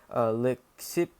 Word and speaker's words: Leucippus: Leucippus, that's how you pronounce his name, however, and his companion Democritus